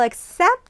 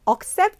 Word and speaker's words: accept: 그리고 accept 아니고 약간 애를 약하게 해서 accept our claim 이렇게 발음이 되는 거죠.